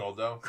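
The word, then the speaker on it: Guldo: Goldo, not Guido. Guido. What? Not Guido, Goldo.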